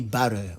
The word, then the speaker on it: butter: Mais chez nous ici là, le T devient petit do. Voilà, donc nous on dit butter, ok?